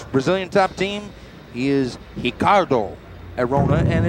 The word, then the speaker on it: Ricardo Arona: top team he is hicardo arona and it's uh it's actually spelled ricardo but the brazilians pronounce that r with an h sound coming into the arena